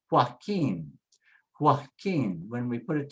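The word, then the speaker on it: Joaquín: The next one is, the J is an H sound. So you say H-O-A, hoa, hoa. And then the K, the Q is a K, and the U is silent. So you say keen, keen. And it has an accent, so that's easy. It tells us where to put the stress. So just say Joaquin, say hoa, but it comes out hua, hua.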